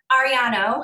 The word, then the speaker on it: Arrellano: our friend alicia on alicia ariano am i saying it right yay i love saying your last name i feel like it's like um ariana grande it's like they've got the same little yeah um so alicia